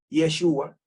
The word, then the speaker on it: Yeshua: este y a Joshua o como se dicen arameo que algunos prefieren el arameo yeshua no puede ser Jesús